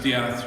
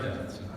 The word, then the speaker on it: Death: I said, your name must be pronounced Diath. She says, no, it's Sarah Death.